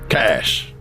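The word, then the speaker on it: Kache: you what's your name cash cash cash cash that's like a human idiom isn't it for like credits oh it spell it with a k k a c h e oh I don't worry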